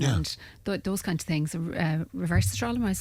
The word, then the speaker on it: Resveratrol: Resveratrol, am I pronounced that right? No? Resveratrol, yes, yeah.